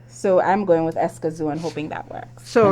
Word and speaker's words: Escazú: up, and I'm like, because it's Spanish. It's Spanish. So because I think it's Escazú, because the A is never as sharp as like and there's ours. an accent on the U.